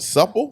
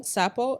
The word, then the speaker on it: Sapo: Pronounce what? Supple? Sapo, S-A-P-O, Sapo.